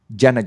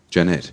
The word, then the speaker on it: Jeanette: middle syllable yeah yeah actually um Jenna is another word it is um j-e-a-n-n-e-t-e Janet yeah that's generally they're